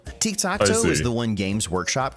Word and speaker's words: Tiktaq'to: noob's guide to tikto this is tikto which is how you would pronounce his name if it was actually Aztec not gor Rock oxy